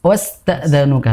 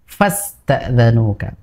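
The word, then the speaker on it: فاستأذنوك: Ya, di fa-nya kurang sempurna. Jadi seperti wa tadi. Seperti wasta'zanuka begitu. Harusnya kan fa ya. fasta'dzanuka. Nah, itu juga kurang sempurna untuk huruf fa-nya ya, Faiz ya. Perhatikan fa fasta'dzanuka.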